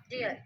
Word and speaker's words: deal: Like spelling होगी DEYAL, तो ये बनता है डीएल. डीएल. DEYEAL. Yeah. Yeah. Deal.